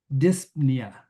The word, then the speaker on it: dyspnea: I had the breathing issues before the surgery, and they've deemed it dyspnea. There's a silent P in there, and it's getting worse.